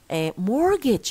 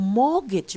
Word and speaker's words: mortgage: mortgage الكلمة دي يا ريت تعرفوا تنطقوها كويس. mortgage اوكي او mortgage من غير ار لو حبينا يعني يبقى mortgage. طب فين تي؟ فين مش عارف ايه؟ لا خلاص. scissors okay look at the